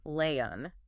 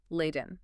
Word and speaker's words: Layton: They were pronouncing the baby's name as Leon, completely swallowing the T, just eating the consonant entirely. Yes, the linguistic pivot was very noticeable. And the audience theory is that this is entirely reactionary. They are now heavily, almost aggressively pronouncing the hard T, emphasizing Leiden.